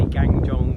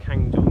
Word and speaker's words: Gangjeong: I used to say Gangjeong, but apparently it's pronounced Gangjeong.